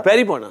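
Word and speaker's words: pairi pona: Yeah, peripona. Yeah, because it rhymes with peri peri sauce.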